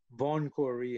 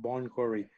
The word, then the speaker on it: Bon Quarry: they put it down as vaughn quarry instead of bon quarry and it was a